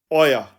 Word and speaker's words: euer: Informal में हम your ऑल्स को यानी तुम सबका जब हम ट्रांसलेशन करेंगे जर्मन में तो ये बनेगा ओया, और इसके स्पेलिंग बन जाएंगे इंग्लिश में EUER, और जर्मन में इसके स्पेलिंग बनेंगे AUAR, ओया, तुम सबका.